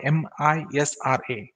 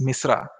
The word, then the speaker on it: MISRA: what is meant by m i s r a in in short it can be pronounced as misra misra is basically one possible